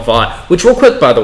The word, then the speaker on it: Vought: of you reviewers and people who are pronouncing it Voight, where the fuck are you getting that from? It's Vought. They say Vought like several times throughout the show, so I don't understand where Voight's coming from.